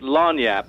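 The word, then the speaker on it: lagniappe: Louisiana and it's pronounced lanap the magazine that I did work for is called lanap it's a Cajun French term and it just means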